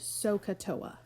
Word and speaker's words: SOHCAHTOA: get you to learn it and it's just pronounced sohcahtoa and it's just a way to say that